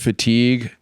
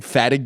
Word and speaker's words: fatigue: I was like 16 I like knew the word fatigue but then any time I ever read it f yeah like it's just like in my head just read it that way and I was like like if I just if I say this I was like saying Fatu in my head the first like five years I ever read that word there's two Fatu is